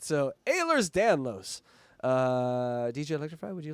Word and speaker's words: Ehlers: 10% of that goes over to the Ehlers Danlos. Ehlers. God damn, I fucked that up. Ehlers. No, it's No, Ehlers. you said it right the first time.